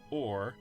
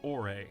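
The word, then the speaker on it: Orre: fans pronounce it Or, but the only audible reference for the region's pronunciation is a TV commercial where they pronounce it Ore. So we're gonna follow their lead.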